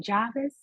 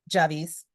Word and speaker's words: Javis: Okay, so you guys see, I think Megan already started separating her eggs, but how do you say your name? Jarvis or Javis? I said it wrong. I'm sorry. Javis.